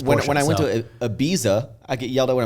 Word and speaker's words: Ibiza: when I went to Ibiza I get yelled at when I'm there because they're like no it's Ibiza yeah but when I'm here I say Ibiza people like you sound